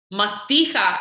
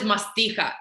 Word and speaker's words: Mastiha: you know, you see Mastiha is the proper transliteration for the word. The word is Mastiha in Greek. Mi, alpha, sigma, taf, iota, he, alpha. He is ha. That's that soft H.